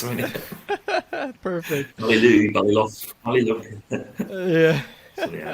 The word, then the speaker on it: Ballylough: pronounce it. Perfect. Ballylough.